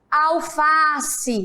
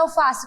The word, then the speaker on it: alface: Se você fosse gritar a palavra alface, como seria? Alface, né? Qual foi a sílaba mais forte? Qual foi a palavra que mais foi esticada? Já sabem? Muito bem, o Fá.